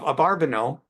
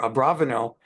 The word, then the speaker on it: Abarbanel: And as we're learning now, the commentary of Abarbanel, or Abravanel, different ways of pronouncing the name, that David ordered that he be brought to the palace, that they not see each other.